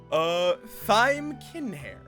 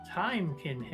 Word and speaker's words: Thyme Kinhair: And Thyme Kinhair. No, that is Timekin hair. Time. Can't you even pronounce a name correctly?